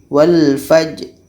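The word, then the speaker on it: والفجر: jalan ini sifatnya Allah Qalqalah Qalqalah nya harus kita baca jadi bacanya walfajri one-page sedangkan Bro ini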